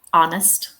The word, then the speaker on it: honest: Um, so for example, honest, the first syllable is stressed, but we don't hear the H, but it is in the stress syllable.